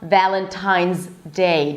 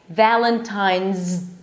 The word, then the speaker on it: Valentine's: The s is actually pronounced as a z.